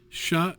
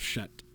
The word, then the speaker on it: chat: so chat is cat except it's pronounced shut and like French being what it is yeah the last letter you often just don't pronounce it at all so instead of shut you know it's sha na is black so